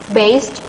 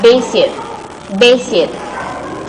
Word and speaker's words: based: Okay, if you can listen it carefully and if it is clear for you, this student pronounce based as basic. Basic is wrong, okay? That's not basic, but based, okay?